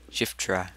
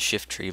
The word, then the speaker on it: Shiftry: Shiftra. No, it's actually pronounced Shiftry, but whatever.